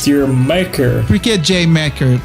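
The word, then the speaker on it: D'yer Mak'er: Por que J. Macker? Eles escreveram desse jeito aí porque a pronúncia, eu tô pronunciando errado, mas a pronúncia com o inglês britânico fica parecendo a palavra Jamaica.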